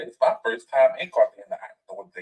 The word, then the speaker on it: Cartagena: It's Cartagena. The G makes an H sound in Spanish, so it's Cartagena.